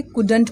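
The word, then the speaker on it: couldn't: यहाँ पे एल क्या है? साइलेंट है, कुड, कुड। एन टी यानी नोट है ये। ठीक है, NT है बट नोट नहीं पढ़ेंगे, कुडंट पढ़ेंगे। क्या पढ़ेंगे? एन का न और टी का ट, कुडंट।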